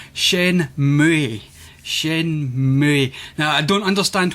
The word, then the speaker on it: Shenmue: Shenmue.